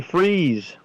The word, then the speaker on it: Fries: And Brandon Fries, as we've been told it is pronounced, is starting in the 5th position, and the points leader Brandon Ketchum will be starting 11th.